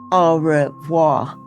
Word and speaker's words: au revoir: You say it like this, au revoir.